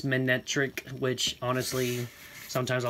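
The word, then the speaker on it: Manectric: Widelands, and a Manretic. You know what? It's how I pronounce it. Manretic is how I've always said it. It's Manetric, which, honestly, sometimes I like the way I say I'm better.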